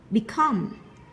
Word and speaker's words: become: Become, các bạn chú ý động từ của mình nó rơi vào âm trọng âm rơi vào tiết thứ hai nên chúng ta đọc nó cao hơn một chút nhá.